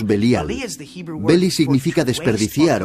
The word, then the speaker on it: Belial: Beli-Yaal, que nosotros pronunciamos Belial.